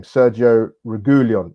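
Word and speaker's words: Sergio Reguilón: Sergio Reguilon, that's how you say it.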